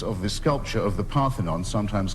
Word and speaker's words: Parthenon: Athens the chunks of the sculpture of the Parthenon, sometimes called the Elgin marbles, always pronounced wrongly in this country.